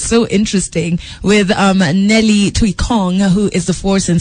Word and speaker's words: Tuikong: of Pauline cosmetics Kenya her name is Nellie Thuy Kong yes I said it right yes she's live